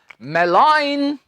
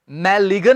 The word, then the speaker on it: malign: इसका उच्चारण होता है स्टूडेंट्स मेलाइन, मैलिगन नहीं।